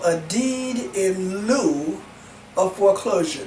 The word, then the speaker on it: lieu: Now, there's also what we call a deed in lieu of foreclosure. Not Mary Lou, not Sarah Lou, but a deed in lieu of foreclosure. And that's spelled L-I-E-U.